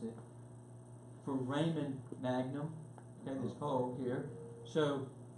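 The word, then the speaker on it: foramen magnum: I finally got off my duck and asked Google how to pronounce it. For Raymond Magnum, okay, this hole here, So what happens is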